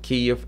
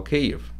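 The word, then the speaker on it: Kyiv: in Soviet Union was called Kiev 88 as the name they choose a rucified pronunciation of Ukrainian Capital cave because in Soviet Union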